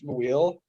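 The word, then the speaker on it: Muyl: gonna turn into another Alex Maweel, where everybody called him Mule for 4 years, and he's like, by the way, guys, it's Maweel.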